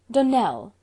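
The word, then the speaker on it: Donnell: would set it right Donell Accent on the last syllable and Sinclair on no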